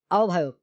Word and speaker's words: আহ্বায়ক: আহ্বায়ক শব্দের প্রমিত উচ্চারণ হবে আহ্বায়ক।